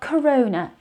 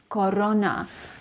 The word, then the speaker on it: Corona: o as o corona it's not corona it is corona remember it is a wide o sound corona corona corona or